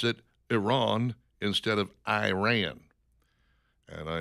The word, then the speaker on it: Iran: of them are acceptable, but Iran just sounds a little rednecky to me. We're bombing Iran. I like how they call it alternative English when I looked it up. But yeah, the proper pronunciation is Iran.